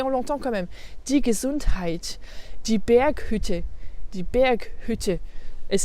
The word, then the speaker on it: Gesundheit: donné des exemples, mais on le trouve parfois aussi à l'intérieur d'un mot. Et donc là, c'est quand il est au début d'une syllabe. Par exemple, dans sich unterhalten, unterhalten, sich unterhalten, die Gesundheit, die Gesundheit. C'est pas die Gesundheit, die Gesundheit. Là, il y a le ha.